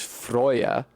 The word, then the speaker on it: Freyja: there's a character named Freya, Freyja. That's the name of a goddess in Norse mythology. I believe the Old Norse pronunciation is Frøya, and that is probably